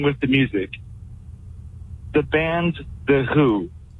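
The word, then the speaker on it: The Hu: Not only are we familiar with the Mongolian band, The Who, which is spelled H-U.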